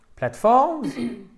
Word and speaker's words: platforms: Platforms? Platform. Platforms? Or Platforms. I'm Z. sorry. Platforms. platforms. On entend le Z à la fin, mais il est atténué, mais on l'entend quand même.